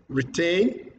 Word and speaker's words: retain: Retain. Tain. Second syllable is stressed.